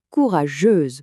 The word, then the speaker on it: courageuse: Faites bien attention à la prononciation, c'est un peu différent au féminin. On a courageux pour un homme et courageuse pour une femme. On entend bien ce petit son z à la fin.